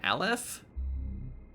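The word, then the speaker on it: Aleph: the will you manifest Alf can yet return I don't really pronounce the e in his name Alf anyway that was certainly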